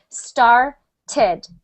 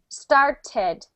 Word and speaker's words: started: t that that's when you add the syllable start ends in a t so I'm going to say started started right that's the Only